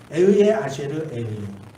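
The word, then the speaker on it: אהיה אשר אהיה: 이 히브리 말로 에흐예 아쉐르 에흐예라고 이렇게 발음해요. 에흐예 아쉐르 에흐예.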